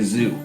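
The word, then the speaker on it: Zu: uh this is what they call a zoo a z it's z u is how it's spelled um it is similar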